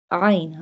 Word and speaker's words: ع: Ain. Ain pronounced from the middle part of throat.